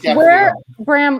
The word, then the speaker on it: Gaffalione: Bram, Tyler Gaffalione. Did I say his name right, guys? Close enough. Go on. Gaffalione. Drop the E. Just Gaffalione.